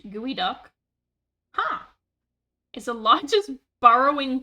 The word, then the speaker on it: geoduck: The geoduck, pronounced gooey duck, huh, is the largest borrowing clam in the world and looks extremely silly.